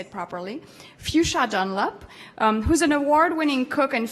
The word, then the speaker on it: Fuchsia Dunlop: Fuchsia Dunlop, I have to say it properly, Fuchsia Dunlop, who's an award-winning cook and food writer specializing in Chinese cuisine.